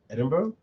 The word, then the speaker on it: Edinburgh: say it's ed um oh right Edinburgh that's not how it's spelled but that's how it sounds anymore so yes they